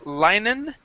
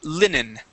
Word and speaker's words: linen: go to linen okay instead of linen right here this is linen try that please Lin where I can I cannot see that okay it's in h okay L okay I can see now the L Lin with a short ey this is a short ey sound linen linen the L linen